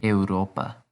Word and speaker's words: Europa: in europe estudio in europa we have to pronounce both vowels at the beginning it's not your and